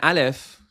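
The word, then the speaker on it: علی: So an alif, as in Iran, is Iran. And then in the word, let's say my name, Ali, my middle name, we say Ali. We do a small glottal stop, which English has a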